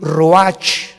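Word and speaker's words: ruach: y exhaló Isaac el Roach así como suena se pronuncia la Cia en hebreo como jota roja se les halló y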